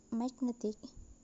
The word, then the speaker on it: magnetic: So the word magnetic, the stress moved from the first syllable to the second syllable, make to net.